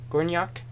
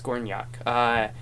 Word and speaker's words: Gornjak: And then he felt called to monasticism, and he went to somebody told me how to pronounce it last time. Gornjak Monastery, Gornjak, I think that's what it was. Gornjak monastery in Serbia, and